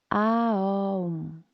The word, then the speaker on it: Om: Om is the universal vibration that in yoga we believe connects everybody to everything. Pronunciation is Aum.